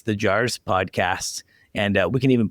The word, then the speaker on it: JAARS: What does JAARS stand for?